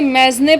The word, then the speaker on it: mesne: Pronunciation guys आप Google से check कर सकते हैं, क्योंकि कई पर्सन्स जो हैं इसे मैजने प्रॉफिट और कई लोग इसे मीन प्रॉफिट भी कहते हैं।